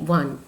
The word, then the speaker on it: one: जैसे ONE वन, वह sound जो है कॉन्सोनेंट साउंड है।